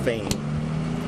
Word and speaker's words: Phayme: His name Kevin, last name is spelled Phayme, pronounced Phayme.